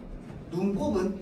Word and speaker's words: 눈곱: 눈곱은 눈에 생긴 곱이야. 그러면 곱으로 써요. 곱으로 써요. 곱으로 써야 돼요. 왜? 얘 합성어잖아. 그러면 발음할 때 뭐라고 발음하는데? 눈꼽으로 발음하겠지. 어 때문에 사리소리 연상 때문에. 합성을 하서요.